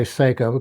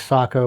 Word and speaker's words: Sako: but certainly uncommon little rifle this is a Sako s KO uh a lot of a lot of people say SEO correct pronunciation is Sako but I mean you say SEO everybody knows